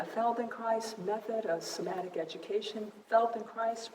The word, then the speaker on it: Feldenkrais: Feldenkrais rhymes with Felden nice.